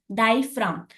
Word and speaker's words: diaphragm: Okay, so the diaphragm, here G is silent. The pronunciation of diaphragm, here you can see that I am not making any emphasis on G. So G is silent here. Diaphragm.